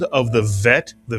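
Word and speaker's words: ב: If you take the dages out of the bet, it is no longer pronounced as a B in English, but as a V in English.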